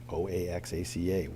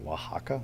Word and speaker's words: Oaxaca: Oaxaca, Oaxaca, really?